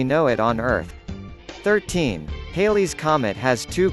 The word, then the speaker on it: Halley's: it on earth 13 Halley's Comet has two correct pronunciations it can rhyme with daily or valley since the discoverer Edmund